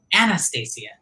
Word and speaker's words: Anastacia: you please say it correctly Anastasio my question anastasiya I even spelled it phonetically because I was doing it close and